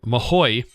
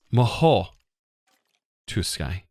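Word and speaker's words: Mahou Tsukai: I know a lot of you guys I was saying Mahoy, which doesn't have a Y sound at the end or an I sound. It's Maho to Sky. Or maybe it's not so strong on the T. It's more like saying the T without the T real loud.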